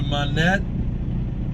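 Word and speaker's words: Monett: then we go to monet i'm assuming that's how they pronounce it it's uh m-o-n-e-t-t there's only one in so it's monet or it's monet uh missouri i'll just see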